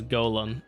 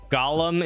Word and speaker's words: golem: The literal pronunciation is golem. I know that's that's why I just said I am aware that I'm wrong, but I don't care. Gollum is the pronunciation that literally everyone I know uses. It doesn't matter. English is messed up.